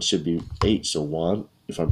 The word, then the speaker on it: Juan: you might look like Joanne maybe because it has a j but in Spanish any J sounds you should pronounce with an H so I learned this